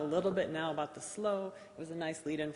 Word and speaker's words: SLOE: important first of all some people will say slow other people say slow II I say slow that's the right way to say it but usually her both